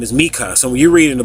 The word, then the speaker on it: Micah: Mika his name is mikah so you read in the Book of Micah some people pronounce it Micah but it's really Mika you reading the book